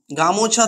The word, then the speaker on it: গামছা: যেমন হচ্ছে গামোছা থেকে গামছা, এই যে এখানে আমরা ওকারের যে ও স্বরধ্বনিটি, ও স্বরটি কি হয়েছে, লুপ্ত হয়ে গেছে, এবং গামোছা শব্দটি তৈরি হয়েছে বা উচ্চারণ করছে আমরা গামছা শব্দটি, একেই বলা হয় মধ্যস্বর লোপ।